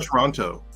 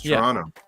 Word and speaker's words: Toronto: i you know well because it's not toronto it's toronto if you if somebody pronounces the second t that's usually how you can tell that somebody's not from toronto usually oh my god